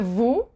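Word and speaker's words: vous: same thing with the Vu you don't pronounce the S and o u is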